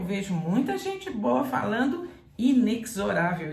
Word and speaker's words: inexorável: aqui inexorável inexorável inexorável traz entre parênteses no dicionário a letra z isso quer dizer que esse x aqui deve ser pronunciado com som de z quando você tem uma